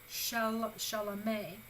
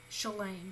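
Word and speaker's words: שָׁלֵם: Shalameh, to be complete, to be finished. Shalem, that's the more correct pronunciation of it, shalem, to be complete, to be finished.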